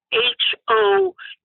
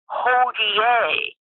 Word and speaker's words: Hodie: thing is so donkey h-o-d-i-e now they pronounce it hodi but in reality it's pronounced Holier it's a Latin word which means today well that's certainly a